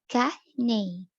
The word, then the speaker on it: canny: Canny, pronounced Kahne, meaning good, nice, and true.